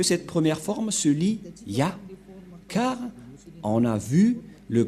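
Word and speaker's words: יה: Ça se prononce Ya.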